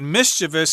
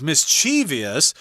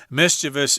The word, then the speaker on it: mischievous: from the noun mischief I should say that mischievous is often mispronounced as mischievous in fact it is so common that some